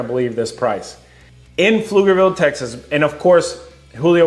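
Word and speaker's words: Pflugerville: But on to number five, we have Flugerville, Texas. How do you spell flugerville? The P is silent, guys. It's not P Flugerville.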